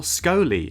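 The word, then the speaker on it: Scholey: with a weeping angel it's annabelle scolie i believe that's how you pronounce her surname she's been in stuff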